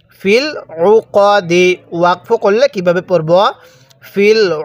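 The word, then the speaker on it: في العقد: আইন পেশ উফ জবর কদ দাল জের দি ফিল উকদি ওয়াকফু করলে কিভাবে পড়বো ফিল উকদ ফিল উকদ কেউ ফিল উকা কাত পড়বো না ঠিক আছে কদ দাল জবর কাত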